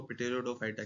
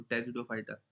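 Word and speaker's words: Pteridophyta: जो भी नाम दो, हम तो इसको पिटेरोडोफाइटा कहते थे, कुछ जो इंग्लिश में अच्छे हैं वो कहते हैं पीस साइलेंट तो टेरिडोफाइटा, मर्जी है जो कहना चाहो।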